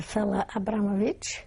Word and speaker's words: Fela Abramowicz: tell me your name please my name is Fella Abramovich could you spell that please first name Fela and the second